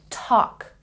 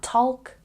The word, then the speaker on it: talk: no it's walk and this one talk not talk talk and this one calf